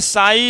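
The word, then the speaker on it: ψ: ये साई, P silent होता है, साई इसको बोलते हैं, है ना।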